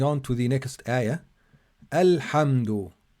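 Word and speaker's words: الحمد: to the next ayah al hamdu ah here we pronounce the hamza because i'm starting it's in the beginning and i i'm starting with it i didn't join rahim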